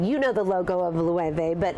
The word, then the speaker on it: Loewe: Is that how you pronounce it? Yeah, I think those are really hot, and Loewe. Loewe, yes, good.